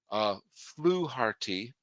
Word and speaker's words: Fluharty: Fluharty, I understand that's how you pronounce his name, was not dynamite.